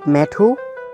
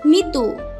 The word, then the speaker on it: মিতু: WhatsApp মেঠু? আমার নামের এমন বিকৃতি উচ্চারণ শুনে আমি কিছুটা চেতে গেলাম মার্কের উপর। Don't call me মেঠু, call me মিতু।